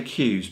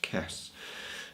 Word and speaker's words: Kess: I was to say Q's, but I believe now it's pronounced Kess. And I can only remember that from Star Trek Voyager with the character Kess.